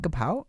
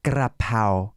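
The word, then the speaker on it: กะเพรา: And I'm asking, like, you don't have gapao? And if you want to pronounce it like correctly, Thai correctly, it's grapao.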